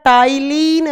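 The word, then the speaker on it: ptyalin: दूसरा नाम होता है टाइलिन माइलेज लिखा जाएगा पी से बोला जाएगा टी से पी साइलेंट रहता है और सलाइवेरी अमाइज का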